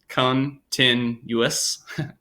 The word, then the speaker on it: continuous: stars that shine so you have to read continuous as three syllables Khun tin us which isn't how we always pronounce the amount of syllables there but that's the way the author intends you to read it sometimes authors in these